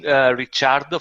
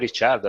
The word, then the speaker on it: Ricciardo: I call it Ricciardo. I mean, Ricciardo. Yeah, yeah. okay. I think that's the correct pronunciation. Well, if Um, it's an Italian one, that should be the one.